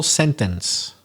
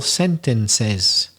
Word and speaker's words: sentences: language baggage yeah but when it becomes plural then you do pronounce the e and that's what people forget so sentence three useful